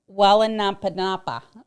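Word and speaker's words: Waiʻānapanapa: Do you know how to pronounce it? This right here? Wallenapanapa.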